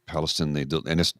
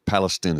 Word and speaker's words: Palestine: In Palestine, Palestine is how they pronounce it, not Palestine.